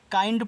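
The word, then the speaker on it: kind: ऐसे ए आ के आई एन डी इसको पढ़ते हैं काइंड किंड नहीं पढ़ना है। काइंड पढ़ना है क्योंकि आई एन डी को आइंड पढ़ते हैं तो के लग जाएगा तो काइंड हो जाएगा।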